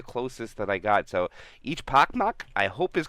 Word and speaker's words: Echpochmak: name ecmp no they the CH is supposed to be pronounced as chili so it' be each pacm each pacm I believe I said